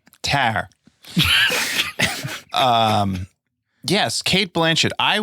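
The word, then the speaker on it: Tár: I have watched tar T is that how you pronounce it tar no yes it's a long a tar um yes Kate Blanchet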